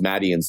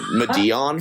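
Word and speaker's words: Madeon: it's close enough well i literally just found out how to actually pronounce madian's name like three days ago i was saying medeon for the longest time so i yeah i've been training myself maddie and it's mad ian maddie madden anyway so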